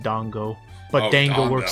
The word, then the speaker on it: dango: I don't want to directly correct him because that pronunciation works so well with that voice, but it is pronounced dongo.